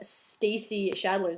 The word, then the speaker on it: Stacey Schaedler: you today and I'm here with my friend Stacy shadler did I pronounce that right yes perfect and Stacy is